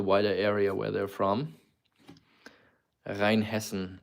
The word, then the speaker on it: Rheinhessen: Rheinhessen is how it's pronounced in Germany.